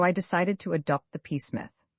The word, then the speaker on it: Psmith: So I decided to adopt the peacemith. The P I should add for your guidance is silent as in this psychic and Tomigan.